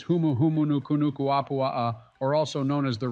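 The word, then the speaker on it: Humuhumunukunukuāpuaʻa: Come on, Barack, it's obviously pronounced as Humuhumunukunukuapua'a, or also known as the reef trigger fish.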